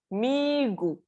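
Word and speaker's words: 미국: Okay, next is Migu. Migu. Okay, this is how you say it. Migu. Migu is the USA, the America. Okay, Migu. Again, macam mie goreng, oh.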